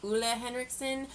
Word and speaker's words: Ole Henriksen: and to be honest, I was actually pronouncing it wrong. I was informed that it's Ole Henriksen, even though it's spelled O-L-E, so if I'm wrong again, I'm sorry, I give up.